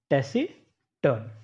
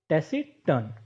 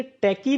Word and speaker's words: taciturn: इस वर्ड की स्पेलिंग में सी होने की वजह से आप इसे टैकी न पुकारें। इसका जो सही स्पेलिंग है वो, उसमें सी तो आता है, लेकिन जब हम इसे प्रोनाउंस करेंगे तो एस के रूप में करेंगे, यानी टैसी टर्न।